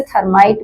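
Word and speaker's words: thermite: क्या है ये रिएक्शन इसको कुछ लोग प्रोनाउंस करते हैं थर्मिक रिएक्शन और कुछ लोग इसे थर्माइट भी बोलते यहां पर आपके सामने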